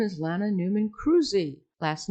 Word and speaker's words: Kruse: My name is Lana Newman Cruzy.